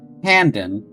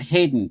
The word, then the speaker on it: Handen: My name's Handen, not Hayden.